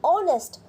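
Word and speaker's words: honest: वही क्यों इसलिए क्योंकि हम इसका जो उच्चारण जो प्रनंसीएशन करते हैं वो किस करते हैं ऑनेस्ट करके ऑनेस्ट ओ ओ क्या है स्वर है और इसलिए हम ऑनेस्ट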